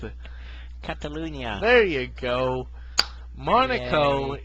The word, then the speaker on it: Catalunya: I don't know how to pronounce it. Catalunya.